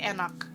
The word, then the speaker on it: enak: You would say enak, which is ENAK. It's spelled.